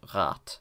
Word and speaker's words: Rad: When a syllable ends in a voiced obstruent, it is replaced by a voiceless one. Hence, this is pronounced rat, and this is pronounced objektiv.